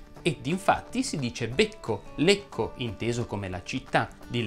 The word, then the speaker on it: Lecco: La e tonica delle parole terminanti in ecco va pronunciata chiusa. Ed infatti si dice becco, lecco inteso come la città